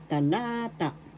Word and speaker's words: talata: la third syllabol ta second syllable is where the accent is so that's how you will pronounce talata talata talata paragraph in